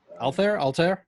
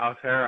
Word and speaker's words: Altherr: Altherr? Yeah, Altair, I think, is how it's pronounced.